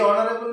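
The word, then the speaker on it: honorable: এইচ ও এন ও ইউ আর এ বি এল ই, এইচ দিয়ে শুরু হয়েছে কিন্তু অ উচ্চারণ হচ্ছে, অর্থাৎ উচ্চারণ এইচ এর যে উচ্চারণ হ হয়নি এখানে। এইটা হচ্ছে অনুচ্চারিত এইচ এর ঘটনা।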